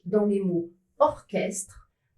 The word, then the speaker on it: orchestre: La majorité des mots qui sont des exceptions, qui s'écrivent C plus H mais ne se prononcent pas che, viennent du grec. Ils sont prononcés que.